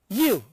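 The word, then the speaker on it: ewe: Here, see, I have written here you, E-W-E, it is pronounced as Y-O-U.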